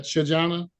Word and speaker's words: Chajohnna: The people versus, and you pronounce that Shajana?